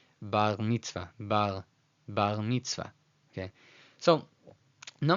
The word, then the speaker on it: bar mitzvah: In English pronunciation, it'd be bar mitzvah, bar. In Spanish, it sounds like bar mitzvah, bar mitzvah. But in Israeli, which is more of a French R, bar mitzvah, bar mitzvah.